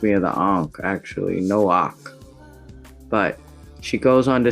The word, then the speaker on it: Noach: So there's this whole story about Isaac coming as Noah, and they say his name is actually pronounced Noach. Right? Reminds me of the Ankh, actually, Noach.